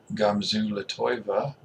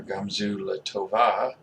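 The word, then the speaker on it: גם זו לטובה: My wife and I use a Hebrew expression a lot, Gamzu Latoiva, or Gamzu Latova, depending on how you want to pronounce it.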